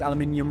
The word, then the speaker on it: aluminium: Don't at me saying I pronounce aluminium wrong, we don't call it aluminum in the good old UK of A, okay?